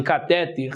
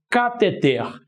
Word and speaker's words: cateter: área da saúde é embora as pessoas falem cateter não é cateter meu camarada o certo é cateter Então se temos como exemplo de palavra oxítona temos a última sílaba mais forte então cá te ter Então tá aqui ó